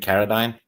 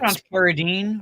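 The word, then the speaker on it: Carradine: Uh uh what's it David Kadine plays Bill. Um he's great. Keredine, or at least that's how I've been pronouncing it.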